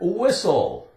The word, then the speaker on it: whistle: The T is silent. We have the word whistle, whistle.